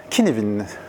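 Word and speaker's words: Cynefin: Est-ce que quelqu'un a déjà entendu parler de Kinevin ? Kinevin, ça se prononce comme ça. Hein. Cinefin.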